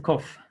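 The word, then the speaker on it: ק: Here's the kof. It's pronounced aka.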